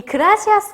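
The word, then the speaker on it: gracias: 할 수 있듯 잘하셨어요 이 그라시아스 같은 경우에는 쎄 빠 가 들어가 있기 때문에 아무래도 4 스펙 현재에서 난 펀드 기 바른 th 발음을 해 주셔야 된다 그래서 이 발음 같은 경우에는 윗니 아랫니 사이로 혓바닥이 살짝 테마 나오게 된다 라는 점을 보시면 되겠습니다 나머지 중남미 국가들을 같은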